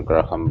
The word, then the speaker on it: Graham: The telephone was invented by Alexander Graham Bell. Graham, H is not Graham pronounced.